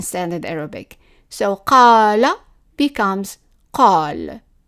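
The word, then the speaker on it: قال: Now, in the regions where the qaf is pronounced as a g sound, then that word would be gal, gal. If we are in a region where it's pronounced as an a, for example, in Lebanon or in the cities in Egypt, then it will be pronounced al, al.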